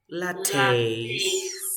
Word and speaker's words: latte: say Cafe if you have latte you say latte of course because this is French okay okay